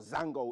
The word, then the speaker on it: zongo: different areas considered or marked as zongos or Zango if you want the actual pronunciation and so AA Central